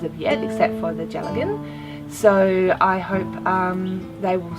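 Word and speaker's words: dealgan: Now this is, I'm told it's pronounced as a Gelatin, which is a Scottish spindle.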